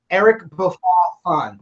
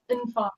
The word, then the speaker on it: Eric Bofa Nfon: It's Eric Bofa Nfon. Is that correct? Yes. Nfon.